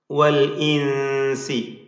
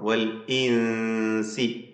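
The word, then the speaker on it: والإنس: വൽ ഇൻസി, ഹംസ വ്യക്തമാക്കണം. വൽ ഇൻസി ഷിദ്ദത്തിൻ്റെ ഹർഫാണല്ലോ ഹംസ. സാക്കിന നൂൻ ഇഖ്ഫാ ഹഖീഖി നൽകി അവ്യക്തമാക്കി മണിക്കുക. വൽ ഇൻസി ഇനിസ്തതഅതും, ഇൻ ഇസ്തതഅതും എന്ന രണ്ട് പദങ്ങൾ ചേർത്തുകൊണ്ടാണ് ഇനിസ്തതഅതും എന്നായത്.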